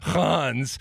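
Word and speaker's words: Reims: differently but how is it huh all right Hans and it's spelled r-e-i-m-s but he's he's playing on Lone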